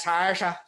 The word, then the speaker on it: Saoirse: Now everyone knows how to pronounce it. But I remember for years, no one got it right. She's like, Saoirse.